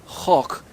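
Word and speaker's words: חוק: Meanings get assigned a group of words, and so I understand the word chok. It looks like it's spelled choke, C-H-O-K-E, but really it's chok.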